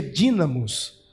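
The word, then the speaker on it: δύναμις: é traduzida como virtude na língua grega se pronuncia dínamos ele está falando de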